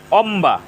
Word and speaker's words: অম্বা: ফলার উচ্চারণ অবিকৃত রয়েছে অম্বা এখানে ম এর সাথে ব ফলা যুক্ত হয়েছে ম এর সাথে ব ফলা যুক্ত হওয়ার কারণে ব ফলার উচ্চারণ অবিকৃত রয়েছে হাম্বা এখানে ম এর